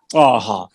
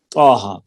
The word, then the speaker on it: طٰہٰ: تو ان کا ہر حرف تلفظ میں 2 حروف پر مشتمل ہے, یعنی طٰہٰ. جیسے تلفظ میں ہم نے پڑھتے ہیں طٰہٰ, قرات میں حامیم سورہ احقاف کے شروع میں آتا ہے.